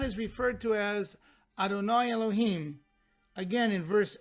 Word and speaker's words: Elohim: The dot under the Vav especially tells you should pronounce it as Elohim instead of Adonai a second time.